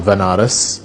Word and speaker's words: Banaras: ended up going to banaras which is a place in in india sometimes pronounced as vanaras which is a place